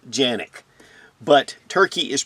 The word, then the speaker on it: Canik: sfx rival s yes in Turkey canic is pronounced Yannick but turkey is pronounced turkey in Turkey as